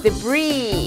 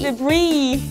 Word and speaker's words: debris: 미친토익 포카 S 발음 탈락 Island Island Island Island Isle Isle Isle Isle Debris Debris Debris Debris 다 같이 따라해볼까요?